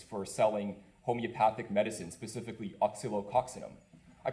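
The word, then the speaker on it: Oscillococcinum: For example, we're part of a lawsuit against Shoppers Drug Mart and Boron Laboratories for selling homeopathic medicine, specifically oxylococcinum. I pronounced it correctly.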